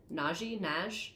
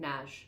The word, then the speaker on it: Nagy: She met Madame Alex because of her film director boyfriend, Ivan Nagy. I think Naj is how they pronounced it in the movies I watched.